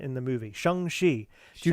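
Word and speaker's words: Shang-Chi: not post any um is it shang shi uh that's how they pronounce it in the movie shangshi do not something like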